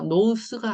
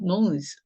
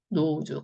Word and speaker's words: nose: S가 모음 사이에 끼어서 나오는 경우 그럴 때는 지읒 발음으로 바꿔주시면 되세요. 자, 그래서 노스가 아니라 nose 하고 읽어주셔야 되고 자, 모음이 없기 때문에 기본꼴 으로 끝나는 겁니다. 네, 노즈, 코죠.